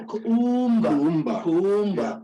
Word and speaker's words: Kuumba: No, Kuumba, that's how Kuumba. Kuumba.